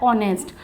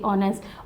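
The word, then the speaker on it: honest: है क्यों किया है क्योंकि यहां पे जो एच है ये साइलेंट होता है और इसका जो प्रोनंसिएशन होता है ऑनेस्ट ओ से करेंगे ऑनेस्ट और ये आ किसमें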